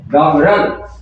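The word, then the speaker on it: doggerel: क्या स्पेल है आएगा इसका उच्चारण है ड ना तो डो ना डा रल ये है डॉगरल ना तो डॉगरल ना डागरल डॉगर जिसका मीनिंग डॉगरल क्रूड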